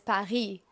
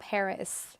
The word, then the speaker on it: Paris: The French pronunciation is pari. You don't say the s. It's not Paris. It's par. You don't say the s in the real French pronunciation.